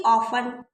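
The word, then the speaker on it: often: ही ऑफन ऑफन नहीं पढ़ेंगे। T silent है।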